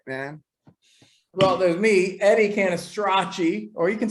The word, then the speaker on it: Cannistraci: I'm respecting my father, R.I.P., and my Italian heritage, and saying Cannistraci because that's the Italian way of saying it.